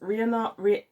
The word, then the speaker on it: Rhiannon: Then we have a one where her second son that she has with her second husband marries Rhiannon I think that's pronounced Rhiannon in Welsh, but I'm not sure cuz I don't speak Welsh.